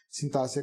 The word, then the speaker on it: sintaxe: o documento a sintaxe sintaxe com um x a pronúncia com ss mas sem carro e olha